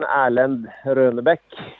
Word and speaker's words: Erlend Røhnebæk: So it's pronounced in the Norwegian Erlend Røhnebæk.